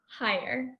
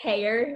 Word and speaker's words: Heyer: of your last name higher i knew it yes i know a lot of people think that it's hair because it's just h-e-y um yeah you see